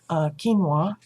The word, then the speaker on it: quinoa: I used seasoned, now I now know how to pronounce it, quinoa.